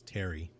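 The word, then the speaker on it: Thierry: So, it's spelled weird, but the way they pronounce it is Terry.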